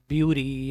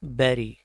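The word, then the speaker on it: bury: इसकी प्रोनाउंसिएशन है, अक्सर इसको लोग बोलते हैं मतलब ब्यूरी या कुछ और। Right pronunciation is बैरी।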